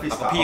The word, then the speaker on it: Pfister: 哦，Alexander Pfister，P 好似發音嘅。